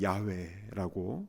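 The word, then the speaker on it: 야훼: 것입니다 아멘 여러분 하나님의 이름을 여호와라고 하셨는데요 히브리어 발음은 야외라고 이렇게 발음을 하죠 근데 그 이름의 뜻이 무엇입니까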